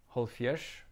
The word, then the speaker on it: hálvfjerðs: 70, holfjers, short for halv fjerde sinds tyve, half fourth time 20, same logic as with 50.